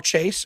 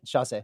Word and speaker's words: Chasse: So this is Chase. Is that how you say your last name? Just Chasse. Chasse.